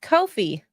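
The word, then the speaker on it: Ko-fi: It's pronounced Kofi.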